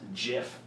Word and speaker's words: GIF: format I know streamers the person who came up with the format says it should be pronounced jiff because it was a